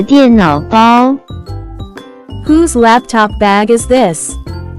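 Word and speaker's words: 电脑包: as 电脑包，电脑包，电脑包。 Let's break down it to understand it even more. It has three characters, with different pronunciation. First character is 电 pronounce with fourth tone, it stand for electric.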